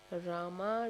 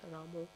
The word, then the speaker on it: Rama: of pleasure giving potency Rama ramu it's just because of the accent of the religion that they belong to they do it as ramu but Rama is correct but if the um